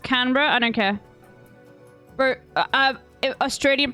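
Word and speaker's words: Canberra: ] chat what's the capital of Malaysia it's pronounced canra I don't care BR Australian pronounced iation koal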